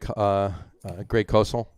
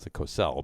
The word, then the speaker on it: Cosell: NFL analyst Greg Cosell, not Cosell, but it's Cosell, I think actually it's pronounced.